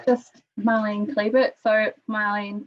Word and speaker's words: Marlen: yep so it's just marlene clebert so marlene pronounced marlon m-a-r-l-e-n i was born in germany makes sense in german but not in english um on instagram or